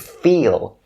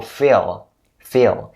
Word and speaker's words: fill: so Phil Phil and make sure you don't pronounce this word with the long e sound because if you say with the long e sound it's gonna turn out to be the word feel and feel is a